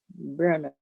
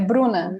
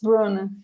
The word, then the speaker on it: Bruna: You continue, Igor, and then we'll try with Brenna. Brenna, I always get her name wrong. Bruno? Brenna? Okay. É Bruna. Okay. It's Bruna. Okay.